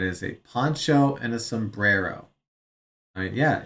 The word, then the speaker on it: sombrero: Got to don't forget to roll your Rs. Sombrero.